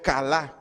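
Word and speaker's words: כלה: de cayeron del hebreo cala con k acento en la segunda de cayeron del hebreo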